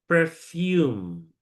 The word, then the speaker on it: perfume: Nah, tulisannya memang seperti ini ya. Nah, tapi cara membacanya ada yang ee sudah tahu cara membacanya? Perfume.